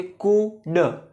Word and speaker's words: could: क्या बोलते हैं इसको इसमें डी साइलेंट होता है तो जो नए लोग हैं जो बिगिनर्स है वो उसको पढ़ेंगे कुड कुड ठीक उसी तरह जैसे शुड शुड पढ़ते हैं एल साइलेंट होता है शुड कुड राइट तो आज हम